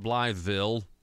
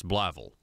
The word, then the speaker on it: Blytheville: Street and Bligh Ville it's not blytheville it's Bligh Ville actually Bible that's how you say it anyway come learn